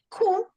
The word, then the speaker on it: coup: and Greece had a coup. Помните, что такое coup? Пишется 4 буквы. Coup, французское такое слово coup.